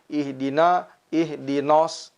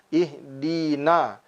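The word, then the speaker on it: اهدنا: Seringkali ketika huruf nun yang huruf tersebut bersifat tipis bergandengan dengan huruf-huruf yang bersifat tebal seperti huruf shad, seringkali diucapkan ihdinos. Padahal sesungguhnya ihdinas siratal mustaqim.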